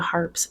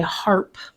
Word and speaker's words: Harpe: Some went by Harpe, merely removing the final E in Harpe, Harpe, but leaving the pronunciation the same.